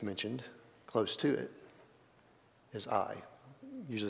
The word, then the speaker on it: Ai: And then another city that's mentioned close to it is Ai. Usually say this Ai. In the Hebrew, the A, the aleph is silent. So it's just Ai.